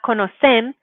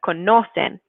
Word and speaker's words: conocen: Make sure that you're putting that emphasis on the second to last syllable. So not conocen, but conocen. Okay. So that second to last vowel is where your default stress should go when you're pronouncing in Spanish.